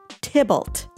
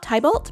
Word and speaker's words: Tybalt: super cute villager and i call him tibalt not thai bolt but tibolt like the character from romeo and juliet in the play romeo